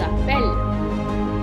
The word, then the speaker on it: appellent: And il and elle become il and elles appellent. Okay? Just like all other ER verbs, the ENT at the end is not pronounced.